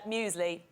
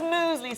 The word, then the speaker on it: muesli: There's like a pretend Y there.